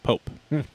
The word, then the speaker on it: Pope: That's how you say his name, by the way. Pope.